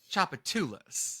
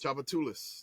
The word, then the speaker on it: Tchoupitoulas: connection so it's so the third syllable is the emphasis of chapatulas chapatulas that's right but the S is there see I'm learning I'm learning that we pronounce the S's and we're about to